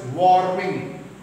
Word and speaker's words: warming: followed by consonant so any english word if r is in the third position followed by a consonant r is silent now see the difference